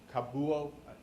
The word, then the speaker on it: Kabuo: no you don't have no Carl and C kabuo kabuo you pronounce it you think they pronoun they feel